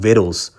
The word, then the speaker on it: victuals: I believe it it's looks like victuals pronounced viddles which is really uh